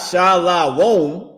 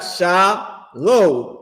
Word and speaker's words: shalom: He don't got sha la. He don't got s h a l a w o m. He got sha low and then with a m.